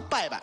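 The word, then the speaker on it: 伯伯: 伯伯，但是在天津话发音里不发伯伯，发什么？发拜拜。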